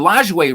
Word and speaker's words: Lajoie: And this one lined to short, and Lajoie ranging to his left makes a great stab and the catch.